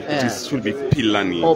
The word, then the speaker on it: Philani: She just told me that the right pronunciation for Philani is not Philani. It should be Philani. Oh, Philani.